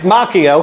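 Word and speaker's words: Macchio: It's Mchio. I am a fool for not knowing where that movie was shot. It's Mchio, and I can get to him if I wanted to.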